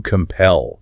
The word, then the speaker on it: compel: Our next verb, to compel. To compel. Stress on the second syllable. Compel.